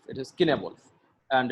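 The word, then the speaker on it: Cynewulf: It should be pronounced Kenewolf, not Cinewolf, as many people do. That it is not Cinewolf, it is Kenewolf. and it is pronounced in that way in the Old English.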